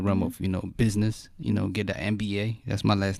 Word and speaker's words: Mba: My last name is Mba. It's spelled MBA. But, saying just like, man, I want to do that.